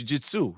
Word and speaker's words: Jujutsu: No, it's Jujutsu.